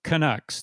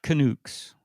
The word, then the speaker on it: Canucks: Well, Butchart, yeah, Butchart, Butchart, and also Canucks, not Canucks. Oh, I know that.